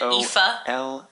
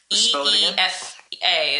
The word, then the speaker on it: Aoife: It's Aoife, and she said to pronounce it Aoife. Eefa is how she says to pronounce it.